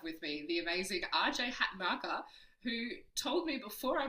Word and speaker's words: Hatanaka: And today I have with me the amazing RJ Hat marker who told me before I pressed record because I was nervous about pronouncing the surname that I just have to lead into the Japanese of it.